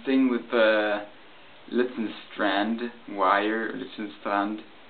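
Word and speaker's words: Litzendraht: with the Lützenstrand wire, Lützenstrand, as it would be pronounced in Germany English, or in, yeah, never mind.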